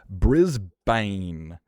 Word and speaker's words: Brisbane: Now, Bane and Bourne are pronounced the same. How the is Brisbane and Melbourne? How is those born and how are they spelled the same? Sorry, sound the same. They're both pronounced bun. Just bun. There's no vow. Remove the vowel. There's no It's not bin. It's not ben. It's not banan. It's bun. Just no vowel.